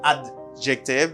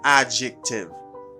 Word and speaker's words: adjective: adjective i don't say adjective because you do not pronounce the d sound you say adjective adjective all right good